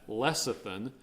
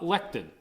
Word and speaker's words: lecithin: New Jersey they had lecithin not lectin lectin is something different i asked about that today and I am predict pronouncing lecithin correctly so the the protein